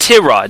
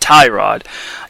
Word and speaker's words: Tyrod: uh to rod taylor yes it's pronounced t-rod not tie rod even though i'll still probably call him tyrod down the road i